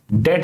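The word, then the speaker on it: debt: पड़े पड़े हैं डेट जब हम बोलते हैं तो बी साइलेंट होता है ठीक है अलराइट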